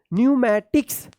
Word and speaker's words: pneumatics: अब देखिए यहाँ पे PNEUMATICS क्या पढ़ेंगे? न्यूमैटिक्स। क्या पढ़ेंगे? न्यूमैटिक्स। यहाँ पे भी पी साइलेंट है, न्यूमैटिक्स।